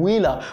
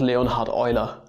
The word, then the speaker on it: Leonhard Euler: __ ] sake don't don't call him wheeler what the [ __